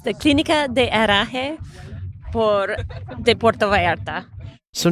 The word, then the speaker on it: Clinica de Herraje: Betsy Lorden, to pronounce it properly for us. It's the Clinica de Herraje de Puerto Vallarta.